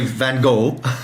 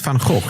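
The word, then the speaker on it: Van Gogh: But Americans say Van Go. Van Go. Yes. Because they can't do the sound. And so that's what that's precisely what the guide told us. She said she she says Van Go or Van Go depending on who her audience or who she's taking around um the museum. Because if she says Fanhawk, she says she's had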